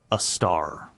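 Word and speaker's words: Sagittarius A*: The one at the center of our galaxy is called Sagittarius A, pronounced a star.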